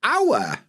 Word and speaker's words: hour: But hour, I think everybody skips the H.